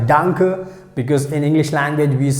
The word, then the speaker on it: danke: so you can use this word danke that's how we have to pronounce danke danke so we can use